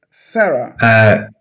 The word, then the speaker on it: Sara: Sarah. ¿Se escribe así? ¿Sara? Sí. Ok. Nosotros pronunciamos Sara. Sara. Sara. Sara. Sara. Sara es Sarah.